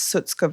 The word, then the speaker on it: Shutkever: It's Sutskav and it was translated on the border for the British people.